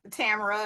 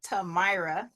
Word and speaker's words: Tamara: combination lock names where, I know you're probably a telemarketer if you call me Tamara or Tamara. So my name is Tamira.